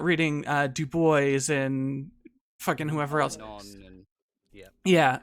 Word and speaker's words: Du Bois: Is it Du Bois or Du Bois? It is apparently Du Bois because he intentionally divorced himself from the French pronunciation of his given name.